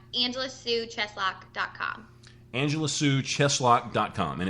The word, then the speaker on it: Cheslock: Angela sulock dcom Angela Su cheslock decom and it's spelled just like it sounds yep it sounds really scary but it's c h s l o c k it sounds like a a medieval torture device and I like it